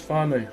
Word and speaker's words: whānau: How do you pronounce whānau? Whānau. So F-A and just N-O.